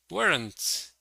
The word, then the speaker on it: weren't: Okay, we say weren't as one syllable.